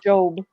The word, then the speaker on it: Job: job is a scripture in the bible it's pronounced job job is phenomenal job is phenomenal most people